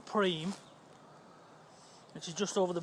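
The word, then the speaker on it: Prüm: There's a place we go which I think is pronounced Prum or Preem, which is just over the Belgian border.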